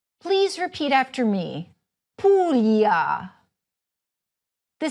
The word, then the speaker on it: Puglia: The first is the combination of "gl," which sounds like "million." You noticed it earlier in PUGLIA. Please repeat it after me: PUGLIA.